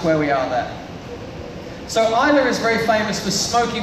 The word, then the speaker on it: Islay: funny little place called Islay. But it's not Islay. It's spelled like that again. The Scottish love spelling things and saying it differently. Keeps you on your toes. It's actually Islay. Like, I love you.